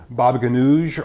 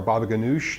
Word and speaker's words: baba ganoush: The first one I'll be making is a baba ganoush or baba ganoush, depending on whether you want the Turkish or the Greek pronunciation.